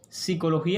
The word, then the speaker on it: psicología: uso oculto sigue prefiriendo psicología escrito con PS. Yo soy partidario de eliminar esa P, una P que no se pronuncia.